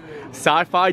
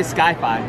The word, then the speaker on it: sci-fi: new sci-fi restaurant yep sci-fi dine in theater i actually said it right i used to say skyfi skyfi i don't know